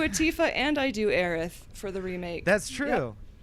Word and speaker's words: Aerith: yeah i do a tifa and i do aerith for the remake that's true and you pronounce it aerith so good oh thank you